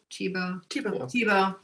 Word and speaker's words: Thibault: bit with Rory Thibault, Thibault every time, because in Vermont we don't, we pronounce things differently than, you know, maybe the country of origin that created that last name did.